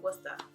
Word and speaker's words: Worcester: Or like Worcester, like we don't say the R. We say Worcester.